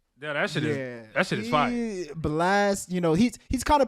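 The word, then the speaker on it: Blxst: Am I saying it right? Blixter Blast. It's got to be Blast, right? My bad. It's Yeah, you Blast, saying no, you saying it right, Blast.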